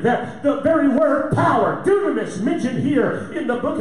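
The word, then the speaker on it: δύναμις: The word power in the Greek is pronounced dunamis.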